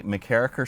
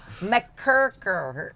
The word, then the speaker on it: MacKerricher: our next stop is going to be MacKerricher State Park, just north of Fort Bragg. And I let Travis say it because I have a hard time pronouncing it. MacKerricher. MacKerricher.